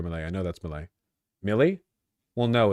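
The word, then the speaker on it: Milley: I know Malay is pronounced like heavier Malay. I know that's Malay. Millie.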